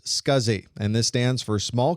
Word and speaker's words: SCSI: The abbreviation SCSI is pronounced SCSI, and this stands for Small Computer Systems Interface.